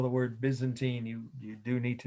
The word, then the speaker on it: Byzantine: t i n e by zen teen some people pronounce it that way but uh everyone else i know and that's the byzantine who were they well